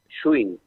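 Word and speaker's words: Gschwind: Mi apellido es, a ver, si lo querés leer como con todas las letras que tiene, es complicadísimo, pero para pronunciarlo fácil, Schwinn.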